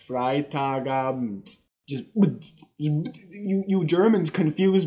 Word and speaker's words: Freitagabend: though okay so the the bet the E isn't really pronounced much fry taga just you you Germans